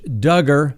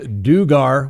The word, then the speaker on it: Duggar: the daca today josh duggar that's right rhymes with hugger certainly not pronounced dugar we certainly learned that